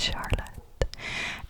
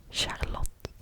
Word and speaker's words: Charlotte: Next is another girl's name, and this one has also multiple pronunciations, because I know it's pronounced different in Dutch, for example, than it is in English.